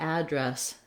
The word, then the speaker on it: address: do either one but when i'm using address as a verb i have to use the second pronunciation so we can't say i'm going to address the crowd if i'm using it as a verb we have just the second syllable stress so she addressed the crowd i need to address this issue etc so when you're using it in action second syllable stress when you're using it